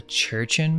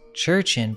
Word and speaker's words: Jurchen: The interesting thing about this is that the Manchus are descendants of the Jurchen people, which I believe is pronounced Churchin, but it's spelled with a J, which is interesting if we connect that to the Churchin man.